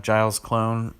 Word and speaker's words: GilesClone: The deck that I've got for you guys today is another creation of GilesClone.